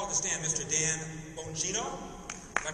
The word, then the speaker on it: Bongino: Dan Bongino. Did I pronounce that right? Yeah, that's good. Bontrono Bongino.